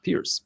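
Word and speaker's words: Pirc: Guys told me last time that it's not a perk defense, that it's a Slovenian last name that should be pronounced Pierce.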